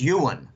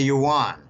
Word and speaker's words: yuan: and they say Jim the pronunciation is Ewan okay a lot of Americans call it the yuan I prefer to start